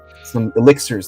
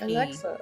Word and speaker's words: elixir: I could help him, and I know a little spell that could take the edge off if Alexa. he needs it. Blame it on the alcohol. It's pronounced elixir.